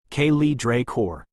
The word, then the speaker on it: Kay's Draor: Next came Lady Kay's Draor, pronounced Kaye Draor.